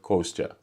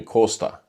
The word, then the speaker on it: Kostya: the United States, Kostya, but no one would like pronounce it right, Kostya. I told everyone it's gonna Kostya. That's very much my name is, but a lot of people called me Costa. Okay, that's more Greek.